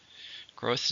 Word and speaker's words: growth: Growth is get bigger. It's It's a noun, it's uncountable. How many syllables are in growth? Just one. Growth. You notice the diphthong at the end.